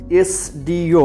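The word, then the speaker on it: SDO: কিন্তু যদি বলা হয় একজন এসডিও, এসডিও যখন উচ্চারণ করছি সবার আগে এ এবং তারপর স, এ স এস, ভাওয়াল সাউন্ডটা আগে মুখে আসছে।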